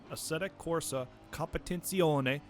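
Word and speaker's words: Assetto Corsa Competizione: the unreal 4 engine atic Corsa competen and yes you have to pronounce it like that or the race department will delete your profile captures the excitement of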